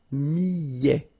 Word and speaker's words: millet: Le millet, here, I, and then double L, so I, millet. A T at the end, open, millet. L'orge, le quinoa, le son.